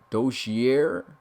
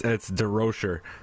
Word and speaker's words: DeRocher: And of course, Coach, I'm trying to hope I say his name right, Dozier. Hopefully I said that right. But Nope. Coach, Nope. How you say it, man? It's DeRocher. DeRocher. Okay. Yeah.